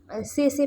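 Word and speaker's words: tsetse: तर हा ट्रान्समिट होतोय सेसे फ्लायमुळे. कोणत्या? सेसे फ्लाय. म्हणजे TSE या त्याचं स्पेलिंग आहे सेसे फ्लाय.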